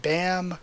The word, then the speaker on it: Bam: I prefer it that way because BAM, to me as an American, makes me think BAM rather than bomb. But I think bomb is more phonetically correct, and I am not a phonetical genius.